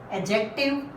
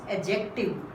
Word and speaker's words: adjective: Noun, pronoun, adjective. This is pronounced adjective in British and American accent, and in Indian the pronunciation is adjective.